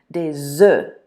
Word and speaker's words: des œufs: Des œufs. When it's plural like that, that's the way you have to pronounce it. You don't pronounce the F or the S, des œufs.